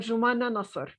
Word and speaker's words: Joumana Nasr: don't you say your name so that the listeners can actually get the correct pronunciation? So I am I am Joumana Nasr.